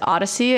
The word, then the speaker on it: OHDSI: informatics nobody remembers that everybody calls it Odyssey and don't spell it like The Odyssey as a journey okay it's ohd si